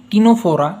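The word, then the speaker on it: Ctenophora: दिख रहा है हमें य जो सी का प्रोनंसिएशन है टीनो फोरा उसका सी का प्रोनंसिएशन एकदम साइलेंट है टीनो न 10 यानी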